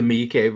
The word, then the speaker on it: Miike: I pronounce this man's name correctly? Takashi Miike.